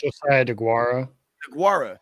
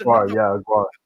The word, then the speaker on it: Josiah Deguara: don't forget my guy that's on I always mispronounce his name. Out of Cincinnati, the tight end. Josiah DeGuara. That's DeGuara.